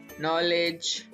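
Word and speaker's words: knowledge: तो इफ के follows N then it's silent, यानी अगर के जो है N से पहले आता है तो फिर ये साइलेंट होता है।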